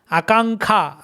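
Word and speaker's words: আকাঙ্ক্ষা: Akankha, Akankha. So in written Bengali, you will find like Akanksha. But in spoken Bengali, you will hear native Bengalis pronouncing like Akankha, Ujjwal.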